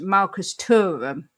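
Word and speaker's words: Marcus Thuram: Uh, it's pronounced Marcus Turum with a silent H.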